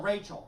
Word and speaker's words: Rachel: we got hicks going my name is traditional pronunciation oh so rachel okay rachel i figured i